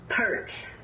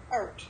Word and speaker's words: Peart: Pronounce your last name? Peart. Peart, okay.